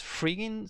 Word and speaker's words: fRigging: frigging awesome studios but the r is capitalized so it's like a play on words emphasis on the rigging so i'm saying currently